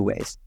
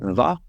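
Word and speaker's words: व: It can be pronounced va or wa. Typically, if it's at the start of the word, it's va, and if it's the middle or end, it's wa. But this can vary a little bit based on the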